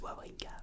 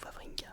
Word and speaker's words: Wawrinka: Oui, c'est du coup Stanislas Wawrinka ou Wawrinka pour les français qui prononcent les W en V.